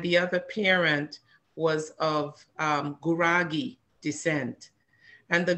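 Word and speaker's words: Gurage: She was of Amhara descent from one parent, and the other parent was of Guragi descent. And the Guragi, that's spelled, it looks like garage, but it's actually G-U-R-A-G-E, Guragi.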